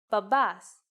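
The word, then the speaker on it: μπαμπάς: Babas. If you notice that mi and p together actually sound like b, you were right.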